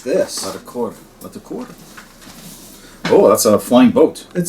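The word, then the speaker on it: Latécoère: That's a Latecoere. Latecoere. 631. I got that one. Oui, 631. Latecoere. Latecoere. I think it's Latecoere. Latecoere. So, what is a Latecoere? It's this. Latecoere.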